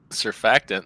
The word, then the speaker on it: surfactant: That word, it's surf act ant.